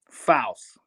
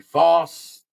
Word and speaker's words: Faust: say the word louse. Laos? Now take the L off and put an F. Faust.